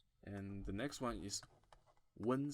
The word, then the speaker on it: wen: And the next one is wen sound. Wen, which is you can pronounce many O's and in an N, but it's not like the noon. It's like wen.